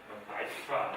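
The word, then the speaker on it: Dijkstra: 보통은 영어식으로 발음을 하면 아이스트라 이렇게 발음하더라고요. 네덜란드 사람입니다.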